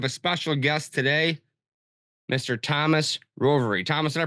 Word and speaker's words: Thomas Rovery: Thomas Rovery. Thomas, did I pronounce that correctly?